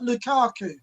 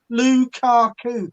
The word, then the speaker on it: Lukaku: oh romelu lukaku right lukaku three syllables lukaku it's very easy look at it and